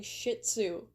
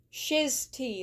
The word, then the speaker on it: Shih Tzu: Sorry, I'm used to saying shih tzu. Shiz tea.